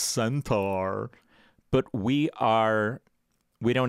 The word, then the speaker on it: Centaur: we're going into a clone centaur centaur but we are actually it's pronounced centaur but we are we